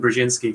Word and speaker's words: Brzezinski: It's Zbigniew, and then Brzezinski. So Zbigniew Brzezinski.